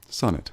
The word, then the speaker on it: Sonnet: thank you very very much so is it sonnet Bryant I want to make sure I say your name right et any piece uh net Sosa net do you pronounce it yes Sonic sonnet son at Bryant okay that's great well let